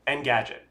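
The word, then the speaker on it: Engadget: end the gadget and end n n Gadget end Gadget just want to say it right and well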